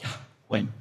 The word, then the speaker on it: Yahweh: E diz que a correta maneira de falar o nome de Yahvé era Yahweh.